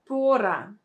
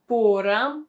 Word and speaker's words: пора: And the third word is pora. Pora. So as you can see, it doesn't sound the same. We don't have the stress on the same syllable.